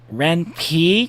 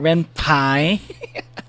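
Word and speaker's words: Ren'Py: Actually, actually, it's called it's pronounced Ren Pi, not Ren Pie. Sorry. Thank you. And thanks to for the correction. I thought it was Ren Pie because it's like I would assume it's made in Python.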